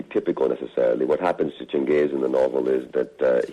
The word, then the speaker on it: Changez: Do I pronounce the main character's name as Changez? That's correct, yes.